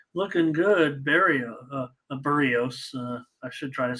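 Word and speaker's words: Berríos: while uh really looking good Barry a a burrios I should try to say it right I have just always said Barrios and uh I know it's burritos uh solo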